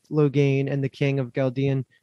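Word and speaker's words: Ghealdan: and the king of galdean i can't even pronounce him g-h-e-l-d-o-n this one's tough yeah this one is tough because parent says in episode one and he says gail didn't oh really i didn't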